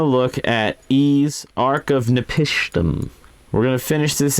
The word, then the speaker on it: Napishtim: Every time I see the name, it looks like it says Ark of Nepotism, and I know it doesn't say that. It's Napishtim. I guess that's how you pronounce it.